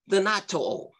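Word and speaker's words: θανατόω: In the Greek, it is pronounced thanatō.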